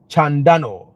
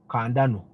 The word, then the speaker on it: Chandano: My name is Chandano with a silent H. Chandano. Kandano.